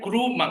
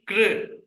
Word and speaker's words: कृ: She is not pronouncing like crew, Prabhuji. She not crew. She is pronouncing as kr. Just maybe elongating a little bit more. Kr, but not crew. Definitely not crew.